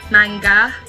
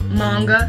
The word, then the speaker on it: manga: manga like it matters actually the a in japanese is pronounced ah so in manga it would be manga not manga so yeah don't worry